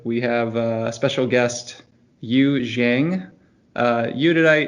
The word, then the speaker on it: Yu Jiang: microsense today's episode we have a special guest you zhang uh you did i pronounced your last name correctly yeah usually yep